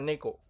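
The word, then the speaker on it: 猫: Nah, ini adalah kanji kucing ya, bacanya neko ya.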